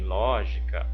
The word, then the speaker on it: lógica: lógica lógica lógica olha Em lógica eu tenho o ló que é a sílaba tônica em que posição que era estar na última não na penúltima não ela está na posição de antepenúltima Então ela é também uma o que uma paroxítona desculpem uma proparoxítona Ok República em república observa